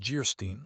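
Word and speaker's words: Geierstein: Anne of Jerstein pronounced Gerstein or the maiden of the mist by the author of Waverly.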